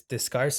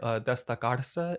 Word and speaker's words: destacarse: it's a Spanish word, destacarse. It Mm, means to stand out and be different from everything else. mm, You can also pronounce it destacarse, but it's from a